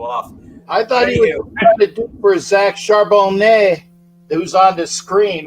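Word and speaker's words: Charbonnet: I thought for Zach charbone who's on the screen right now that's all that's what I thought it was yeah yeah exactly and uh um there's a you don't pronounce the t in French because well they're pretentious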